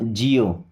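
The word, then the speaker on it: geo: कैसा इओ देखिएगा जैसे जी इओ तो ये हो जाएगा जिओ। क्या हो जाएगा? जिओ। गियो नहीं होगा जिओ।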